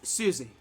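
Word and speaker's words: Siouxsie: It's Susie. Susie. Okay. So it's not spelled like Susie like regularly. It's spelled like like Susie and the Banshees, like Siouxie.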